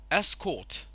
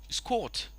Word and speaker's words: escort: Again the same thing over here. The first sound is a, but here the first sound is e, and the stress of course goes from the first syllable to the second syllable, so it becomes escort, escort. The escorts escorted the president.